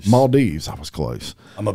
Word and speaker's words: Maldives: you go my is it mound out and mildoffs maldives i was close i'm a beach guy yeah